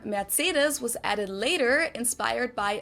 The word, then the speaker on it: Mercedes: In German, we pronounce it Mercedes. So Mercedes versus Mercedes.